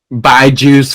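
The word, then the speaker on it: BYJU'S: is coming from by Jews the learning app buy juice for Jews it's spelled b-y-j-u-s be bring your own Jews people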